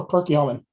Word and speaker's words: Perkiomen: Perkiomen? Upper Perkiomen.